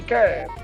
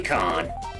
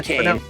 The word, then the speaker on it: Kane: Yeah, Team Southtown, Geese Howard and Ryuji Yamazaki and Billy Khan. Billy Khan. And yeah, that's what his name is, folks. Not Billy Kane. Yeah, even though it's spelled Kane.